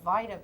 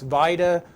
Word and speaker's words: VITA: on now called the vitae program yes vitae although sometimes I butchered up and called Vita but I think the real name is supposed to be vitae for Volunteer Income Tax